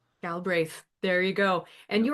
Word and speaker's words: Galbraith: My family's always just completely phonetic. Galbraith. Galbraith.